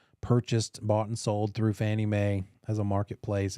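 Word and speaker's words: Fannie Mae: three the most common the oldest one is Fanny May that's the acronym the little um cutesy way of of spelling out and saying out phonetically the acronym of federal National Mortgage Association FNMA stands for also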